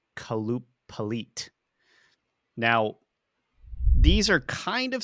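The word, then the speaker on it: Qalupalik: them I guess they're it's pronounced kaloop pit now these are kind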